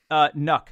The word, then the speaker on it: NUC: NUC. Say it like truck or luck.